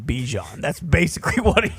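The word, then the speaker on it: Bijan: So it's Bjon but he just gave up telling people I assume. Well, he's kind of the one who's kind of saying like, "Listen, mom, I don't give a if you name me Bjon." I like saying Bejon.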